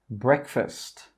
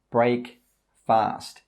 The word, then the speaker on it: breakfast: Don't say break fast. This is incorrect. The correct pronunciation is breakfast. Breakfast. We say break, we say fast, but when we put those two words together, we say breakfast.